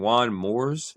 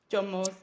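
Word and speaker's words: John Moores: Um, you went to Liverpool, uh, Juan, uh, if I'm saying Juan Moors University, if if I'm saying it right. John Moore.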